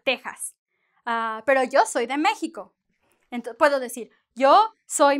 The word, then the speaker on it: México: Yeah, it is not an X and it is not an S. It is a kind of a J in Spanish, like, or if you want to put it in English, it's like the H, right? México.